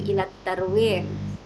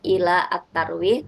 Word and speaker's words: إلى الترويح: Jadi setelah kata ila itu langsung disambung ya. Jadi bacanya itu bukan ila at-tarwih tapi langsung saja ila tarwih.